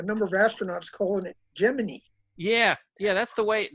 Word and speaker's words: Gemini: learned is Gemini it how is it actually pronounced Kenneth I would have said Gemini myself you know I always used to say Gemini as well and then I saw a number of astronauts calling it jiminee yeah yeah that's the way that's the official